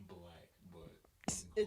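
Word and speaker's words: 6LACK: That's how you pronounce it? Yeah. Okay. Wait, 6 Lack or 6 Black? It's black, but It's- you can call it six lag or whatever.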